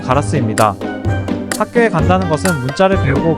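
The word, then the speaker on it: ガラス: 일본어 발음은 가라스입니다.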